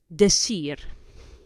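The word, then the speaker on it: decir: or the so the to say or to tell this the ear I are the sear so again to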